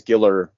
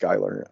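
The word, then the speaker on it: Giler: itself to like because Giller Gyer sorry apparently it's pronounced gerer um and um Hill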